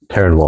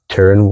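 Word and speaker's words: terroir: Teran yeah you're welcome it's not spelled like it sounds by the way if you ever have to look it up it's like t r r i o r Teran W yeah and there's no n in there any french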